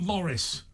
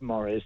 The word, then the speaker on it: Maurice: Your name's Maurice, not Morris. It is Maurice, but it is pronounced Morris because I am English.